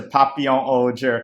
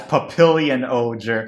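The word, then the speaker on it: Papillon Ohger: people are going to incorrectly refer to Papio Oger as Papillion Oger which is the wrong pronunciation and last but not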